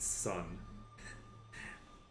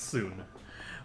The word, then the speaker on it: Sun: Songhai interesting also it's weird hearing them it pronounced Sun it's pronounced soon but let's see I will tell you more